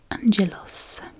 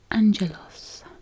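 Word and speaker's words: άγγελος: So angel, pronounced angelos. So obviously there's a Greek word written there, and then she's written how it's pronounced. So angel is angelos in Greek.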